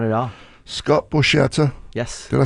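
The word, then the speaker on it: Scott Borchetta: Scott Borcetta.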